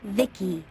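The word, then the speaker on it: VICI: Sadly, by the way, I'm V I C I pronounced Vicki.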